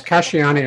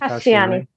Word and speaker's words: Casciani: Yes, Casciani. I pronounce it Casciani.